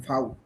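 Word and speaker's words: Vau: কু, কু, এর পারবেন, এস পারবেন, টে পারবেন, কু পারবেন, ভে, এই যে এই দেখেন ফাউ, ফাও।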